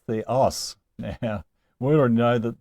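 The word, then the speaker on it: θεός: Well, here we have a acute accent on the last syllable of theos.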